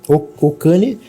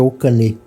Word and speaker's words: Okane: primeiro assim, Ocane, na verdade a pronúncia correta é Okane. Okane significa dinheiro em japonês.